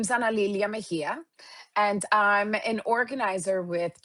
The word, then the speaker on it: Mejia: So, it's Analia Mahia.